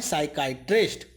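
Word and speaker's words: psychiatrist: साइकाइट्रिस्ट। मानसिक रोग विशेषज्ञ, पी साइलेंट रहता है इसमें।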